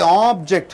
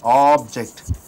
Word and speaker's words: object: Object. How many vowels are there? O and e. So two beating should be coming. So if it is a noun, object means it is a thing. Pur object as a verb. You stress on ject it becomes object.